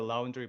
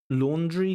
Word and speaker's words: laundry: We just did the laundry by hand, Laundry, not laundry.